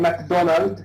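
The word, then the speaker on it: Macdonwald: And MacDonald, here the W is silent, you don't need to pronounce it.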